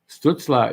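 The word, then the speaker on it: Stützle: glad he's not bleeding stutzla is the pronunciation yep i think the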